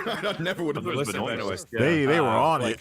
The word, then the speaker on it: Benoist: Damn, is that how you pronounce it? I never would have Melissa Benoist.